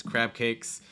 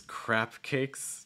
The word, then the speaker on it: crab cakes: here so zebedee mentions crab cakes uh sometimes getting mispronounced as crap cakes yeah so watch out for those b sounds like when you're saying